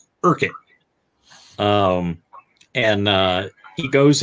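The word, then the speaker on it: Urquhart: he's he's looking for a uh man named irkuhart which is actually pronounced urkin um and uh he goes into the hotel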